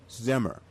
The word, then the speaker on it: Zimmer: make sure that i uh gave a correct pronunciation of his of his last name and it is mike zimmer and he's coming on he's coming on as